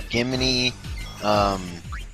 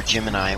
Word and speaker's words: Gemini: They're still Gimini, or Gemini, whichever way you want to pronounce it.